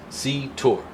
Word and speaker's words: Cetor: This is a good strong 2 syllable name. I always have a tough time with the T in the middle, but I think I handled it fine.